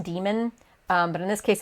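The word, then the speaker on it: dæmon: you haven't, but it's spelled with like the upside down AE character, and it's pronounced demon, but in this case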